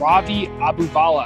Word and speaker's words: Ravi Abuvala: is r-a-v-i-a-b-u-v-a-l-a enjoy the show today we have ravi abubala how are you today i'm doing fantastic man that was an excellent pronunciation of my name man there we go